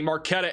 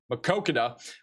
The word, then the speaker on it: Maquoketa: And then down here near the Marquetta area, I mispronounced it again, Maquoketa, going towards Bellevue, Iowa.